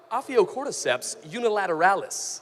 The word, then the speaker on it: Ophiocordyceps unilateralis: There's a certain kind of ant that when it dies, there's certain fungus known as Ophiocordyceps unilateralis. Oh, that sounded right. You nailed it. Ophiocordyceps unilateralis.